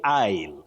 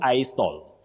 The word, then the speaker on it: isle: So we are learning of you say isle. An isle not I soul.